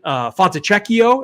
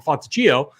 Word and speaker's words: Fontecchio: But on a slate where like Justin Holiday and Simon Fontecchio is actually, I believe how you say his name. I always call him Fontecchio.